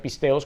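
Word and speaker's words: πίστεως: Aquí la palabra fe que estamos viendo en esta epístola, vemos que se pronuncia pisteos, como dije hace un rato, pistis y ahora pisteos.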